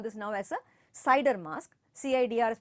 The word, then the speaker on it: CIDR: subnet mask we call this now as a cider mask cidr is pronounced as cider and we ah say it is a cider